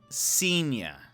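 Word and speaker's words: Cygne: worthier indeed um it's it's pronounced senior I seen you uh it's French for Swan okay when I'm just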